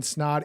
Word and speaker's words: Snaadt: We are in the studio with Ryan Snod. It rhymes with snod rhymes with odd.